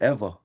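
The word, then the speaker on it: ʻEwa: Uh it's Eva. Ah yeah W is like a V.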